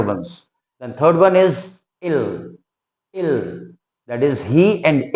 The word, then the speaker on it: ils: Then ills pronunciation will be ill.